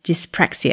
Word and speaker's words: dyspraxia: autism adhd add dyslexia and others such as dyspraxia have i pronounced that right yes you have i don't